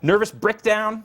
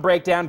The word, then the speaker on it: Brickdown: that a little later nervous brickdown that's not a mispronunciation that's brickdown like a brick brick it down not not breakdown brick down uh that's for the